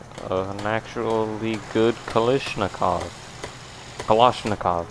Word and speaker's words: Kalashnikov: Kalashnikov, that's how you say it. Not Kalashnikov. Okay, gonna rename it.